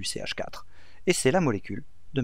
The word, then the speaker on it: CH4: En général, le 1, on ne le prononce pas, donc on dit c'est du CH4, et c'est la molécule de méthane.